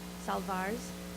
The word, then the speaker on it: salwar: Salwars, yeah, the W is pronounced like a V, took me a while to get that, which is basically shirts and scarves.